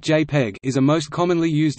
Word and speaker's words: JPEG: JPEG, pronounced JPEG, is a most commonly used standard method of lossy compression for photographic images.